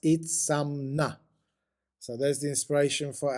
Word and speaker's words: Itzamná: a prominent nose and Toothless mouth itna is pronounced itna so there's the inspiration for our name of